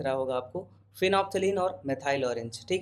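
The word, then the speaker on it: methyl orange: Spelling पे मत जाना, मेथाइल ऑरेंज।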